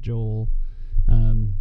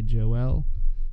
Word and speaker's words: Joel: So before we start the Book of Joel, there's different ways to pronounce Joel. I'm going to go with the Americanized Joel. There's other versions. You've even probably heard people say Joel.